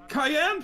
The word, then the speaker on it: Cayenne: no I forgot it Cayenne pronounced like the pepper you have to look